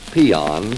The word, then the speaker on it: paean: dictionary you will find a word pronounced peon spelled paean it means to praise however